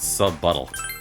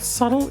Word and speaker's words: subtle: He said sub-buttle. Did you think the word subtle is pronounced sub-buttle?